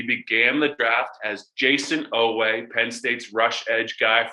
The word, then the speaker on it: Oweh: But Odafe, Oweh to the Ravens. Correct me if I'm wrong, Greg. That's the correct pronunciation.